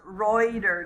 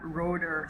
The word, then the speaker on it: Reuter: reuter actually told me his name is um is pronounced reuter not rotor so i don't keep making mistakes so reuter so reuters